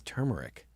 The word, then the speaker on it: turmeric: I think it's turmeric. That's it. That's the show today. We figured it out. That's all. No, is it with the R? Producer Megan Max says it's with the R.